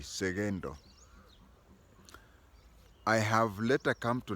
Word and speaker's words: Sekento: 2 in standard form the name is written with a k but it is pronounced as though it has a g segendo I have later come